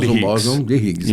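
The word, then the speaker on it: Bóson de Higgs: Boson de Higgs. É a pronúncia mais adequada.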